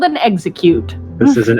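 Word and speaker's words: Exeggcute: It's called an execute. This is an execute.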